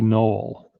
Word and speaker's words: knoll: the conspiracy theory but the silent k in grassy knoll i think that silent